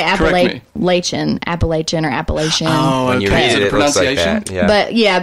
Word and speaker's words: Appalachian: go let's say Apalachin Appalachia nor Appalachia but yeah but generally everyone in the area that we live in says Appalachian Appalachian okay I'm just like